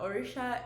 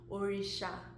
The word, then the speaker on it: Orisha: Orisha is actually, why am I even pronouncing it like this? It's like my American accent is effing me up. Orisha.